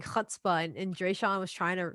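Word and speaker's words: chutzpah: was like you gotta say it like with your chest what can you say it again it's like a hot spot it's a hebrew word it means like when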